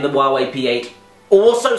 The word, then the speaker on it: Huawei: hi so there's a phone company called wuwei spelled like this who have just released a smartphone